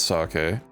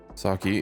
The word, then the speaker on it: sake: I'm pretty sure it's sake. Saki isn't cuz uh no a standalone E in the Japanese language.